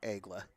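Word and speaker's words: Aigles: French pronunciation is Egla.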